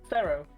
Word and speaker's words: Pharaoh: Pharaoh.